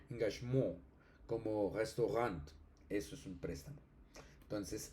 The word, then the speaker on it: Engagement: Y el alemán como tomó préstamo ese tomó ese préstamo lexical, pues eh se mantiene la la pronunciación francesa engagmurant, eso es un préstamo.